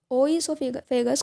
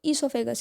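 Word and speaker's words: oesophagus: आप ओईसोफेगस कोई भी नहीं पढ़ेगा इसको, आप इसको ईसोफेगस ही पढ़ेंगे, इसका सही प्रोनाउंसिएशन ईसोफेगस ही है।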